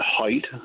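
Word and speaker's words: Haidt: Which brings me to uh an American psychologist Jonathan height which is spelled H A I DT T.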